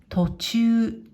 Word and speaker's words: 途中: これは途中、途中、と、中。